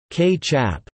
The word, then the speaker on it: kicap: The Malaysian Malay word for the sauce was kaichap or ketchup, pronounced k-chap.